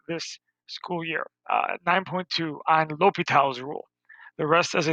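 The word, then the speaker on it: L'Hôpital's: It's pronounced L'Hopital's rule.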